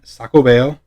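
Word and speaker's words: Xacobeo: nacional de madrid it's a 30 euro 2021 sacobeo or jacobian so this actually means jacobian because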